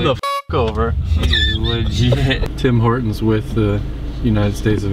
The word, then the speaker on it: Tim Hortons: Dim Ertens. That's not how they say it. That's how I say it. That's not making the French noise. We're at Tim Hortons.